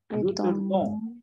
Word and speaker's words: retournons: So, nous retournons. O-N-S. S will not get pronounced. Retournons.